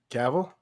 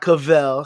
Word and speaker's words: Cavill: correct name is cavil it's not cavell he's not an ice cream cone he's not a [